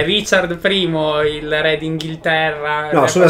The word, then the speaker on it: Richard I: denis questa volta abbiamo avevo rijkaard uno no e richard primo il re d'inghilterra su